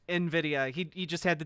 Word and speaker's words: Nvidia: oh he he knows it's supposed to be pronounced Nvidia he he just had to dumb it down